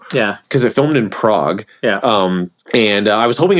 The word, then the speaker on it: Prague: cuz it filmed in Prague um and I was hoping it would be like closer to the comic it's pronounced prag Prue yeah P um